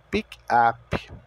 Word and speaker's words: pick up: ali na segunda frase o Pic da mesma forma que se escreve se pronuncia e o ap o u tem o som de a e o p tem o som de p mesmo então pick up porém quando algo for